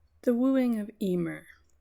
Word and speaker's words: Emer: The wooing of Emer also pronounced Evore and Kuhalland's training in arms with Scaha also pronounced Scarthok translation by Kuno Mayor.